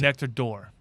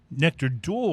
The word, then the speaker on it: Nectar d'Or: I had their assistant master distiller on, Brendan McCarran, on my show, and how did he pronounce it? Nectar d'Or. Nectar d'Or.